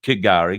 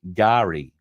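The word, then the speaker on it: K'gari: its original indigenous name uh we did say kigari because it's spelled k apostrophe g-a-r-i but I'm reliably informed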